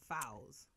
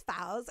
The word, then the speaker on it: Fawziyya: like my whole life people have always said fuzz or idea right but only like my mom my best friend ashley and my friend malika say my name fouls only those three three